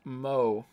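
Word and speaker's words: moe: entertainment centered around characters who possess such traits pronounced MO all right we're all specials we like to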